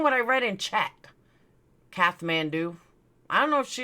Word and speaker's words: Kathmandu: It's pronounced Kathmandu, not Kath. Well, I saw Kathmandu. Sorry. Then why is there an extra H? Why don't you just write C-A-T Mandu?